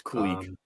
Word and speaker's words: Kulich: with Kulich playing, it's Kulich. Okay, fine. Kulich. That's how they pronounce it in the Rochester arena. Kulich. Fine. So. Kulich. You got. Sounds like Kolik. Remember Al Kolik?